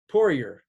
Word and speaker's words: Poirier: So Poirier, is that correct?